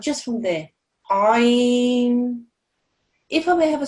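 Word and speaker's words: ع: It's from the very middle of your throat, and it's pronounced like this. Ain, ain.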